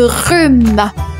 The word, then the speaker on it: rhume: On enchaîne 47e mot je vous parle de rhume. Le rhume. Un rhume et ça s'écrit r h u m e. Le h mué. RH rhume.